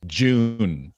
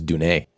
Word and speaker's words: Dune: uh the the author he pronounces it as june as in like the month of june yeah i was i was in my novel june i thought it was dunay that's gonna take